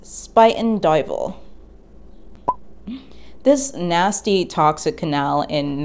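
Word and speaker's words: Spuyten Duyvil: spitting stream regardless of what it means it's pronounced spiten dival this nasty toxic canal in northwestern brooklyn and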